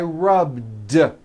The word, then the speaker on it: rubbed: I rub yesterday I rubbed all I did was was add a voiced D sound at the end rubed it's not rubed with an unvoiced T it's rubed like that here's another example clean